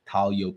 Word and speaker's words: Taglio: me on Instagram at talo Pizza the g is silent t a g l